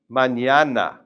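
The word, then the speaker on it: mañana: t over the n, this n will remain just like an English n and this one becomes a na sound. So try to say this manana manñana.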